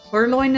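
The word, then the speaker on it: Purrloin: You said it right the first time. Pearlloin. Perloin is the right way to say it over here.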